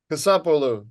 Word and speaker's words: Kasapoulou: You and your friend, last time I tried to pronounce his name, it sounded like he was Greek. So you and Con Kasapoulou. Kasapoulou, that's right.